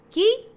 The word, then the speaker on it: chi: Chi se pronuncia qui y qui en italiano es quién.